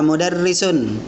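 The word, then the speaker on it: مُدَرِّس: Liverpool setelahnya Hai harga mudarrisun modern pendek ya Bacanya jangan panjang model lesson Hehehe nanti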